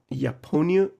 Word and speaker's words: Япония: Japonia. Япония. Japonia. It's like, Yeah, Japonia, Japoniacs. Japonia, Japonics. японец. Yeah, Yes, Japanese. Japonians.